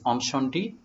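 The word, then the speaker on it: Incendies: you about the film the film is incentives but the french pronunciation is anshandi which means scorched or destroyed by fire directed by denis villeneuve om shondi is a very serious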